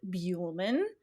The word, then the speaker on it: Buehlman: heard him say it and he says it beuleman um it's a spooky uh kind of a